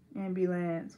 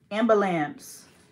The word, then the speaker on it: ambulance: no no no no no more ambulance one word three syllables Amber Lamps no I hate when people say that ambulance do you say